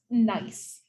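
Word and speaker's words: gneiss: and that's the mineral this is pronounced nice so that's again what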